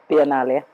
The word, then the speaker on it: Biennale: Biennale.